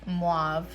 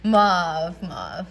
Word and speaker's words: mauve: This one is Mauve. Why did I say it like that? Mauve. It's like, that's how my daughter says it, so.